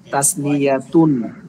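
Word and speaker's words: تثنية: জমা আবারো শুনেন ভালো করে ওয়াহিদুন মানে এক তাসনিয়াতুন দুই জামা জামুন মূলত আরবিতে জামুন বহুবচন তিনের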